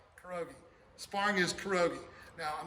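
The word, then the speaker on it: 겨루기: Sparring is kiriki, kurogi, like a pierogi, kurogi.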